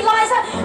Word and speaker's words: Liza: It's Liza with Z, not Lisa with an S, cause Lisa with an S goes snuff. It's Z instead of S, Lie instead of Lee. It's simple as B, C, Liza, then M-I-double-N, then E-double-L-I.